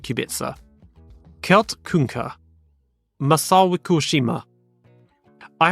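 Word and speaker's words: Kubica: Rudolph ker Robert kubitza some people say cubika but again as I mentioned before dinina galita the C is s so Robert kubitza Kel kunka Masa kushima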